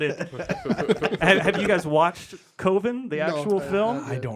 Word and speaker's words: Coven: a cult it's called coven by the way spelled like coven but he's sounds like oven I don't want my